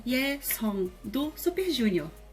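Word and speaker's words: 예성: Só que na batim também tem a bolinha. Só que quando a bolinha tá numa batim, ela é uma consoante mesmo, que seria esse NG que a gente vê romanizado. E é o mesmo NG do inglês praticamente. Nós vai falar jovem, young. Então, é esse on. Então, song.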